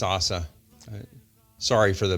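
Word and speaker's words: עזה: did you they say Assa so in in Hebrew it's not Gaza it's Assa sorry for the mispronunciation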